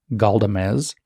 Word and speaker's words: Galdamez: Galdamez. It's Spanish, so it's spelled the way that it sounds, ends in a Z.